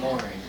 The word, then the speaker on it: Mowry: What's the correct pronunciation? Mowry. W silent.